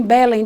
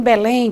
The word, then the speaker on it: Belém: de palavra oxítona Belém eu não digo que moro em Belém digo que mora em Belém ponho força na última sílaba café é a palavra